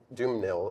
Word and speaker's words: Dumesnil: So, there's a couple different ways you can say because it's spelled with an S. Doom. Doom nil is spelled with an S in the middle. Right. Right. But some people say it, some people don't.